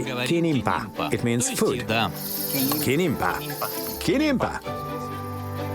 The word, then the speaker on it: kinimpa: We just say kinimpa.